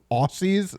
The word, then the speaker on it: Aussie: Double S makes a Z sound.